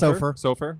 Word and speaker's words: Soffer: Sof. Sofur. Yeah. I got find if it's a long O or a short O. It's you know I keep you guessing. Okay. Uh like Soderberg.